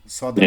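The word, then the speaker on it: ص: মানে জিহবাটাকে একটু ওই যে দুই সাইড বললাম উঁচু করবেন, আর মাঝখানটা ডাউন। সদ, মনে হয় যে একটু গোল গোল ভাব হবে, এরকম হবে, সদ।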